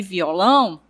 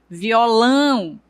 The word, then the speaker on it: violão: Quando eu digo maçã e violão, nós percebemos que o tio ele vai dar um som nasalizado, né? Eu pronuncio a vogal, no caso a vogal A, de forma nasalizada. O som vem para a narina. Então, eu digo maçã, violão. Observe que ele fica, né, na parte nasal.